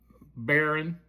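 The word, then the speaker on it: Behren: and he replaced a guy named uh Baron, but it's not spelled like B A R R O N. It's spelled B E H R EN, I believe.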